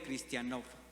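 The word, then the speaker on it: χριστιανός: Cristiano, del griego cristianov, con acento en la última, o bueno, en la única.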